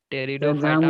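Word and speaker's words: Pteridophyta: टेरिडोफाइटा में बोले थे पी नहीं बोलना।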